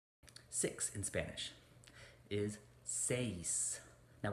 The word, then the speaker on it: seis: spanish is says now we have an e and an i combination here so it starts out as an egg right and then the i says e e as in del e del e right so we have this e followed by the e seis so you blend them together says seven now this